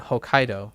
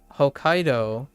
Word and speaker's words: Hokkaido: yeah I I uh although in English it's still the second syllable but there's no T there's no small T right so it it Hokkaido Hokkaido is still on the same the in the stress emphasis is still on the same syllable so to speak like you you'll naturally